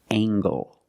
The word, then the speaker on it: angle: compare these two words we have angle spelled l e making the nasal sound M and the hard G angle this is a right